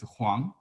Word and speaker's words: Huang: In Cantonese, the same, W-O-N-G, but in Mandarin it's Huang.